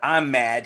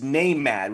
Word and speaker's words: NAMAD: can say it correctly because he's not i'm mad he's name mad which is the national